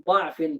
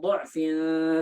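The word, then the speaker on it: ضعف: Allahu alladzi khalaqakum min dha'fin thumma ja'ala min ba'di dha'fin quwwatan thumma ja'ala min ba'di quwwatin dha'fan wa shaybah. Ini boleh dibaca dhatnya, boleh dibaca pakai dhammah, boleh juga dibaca pakai fathah.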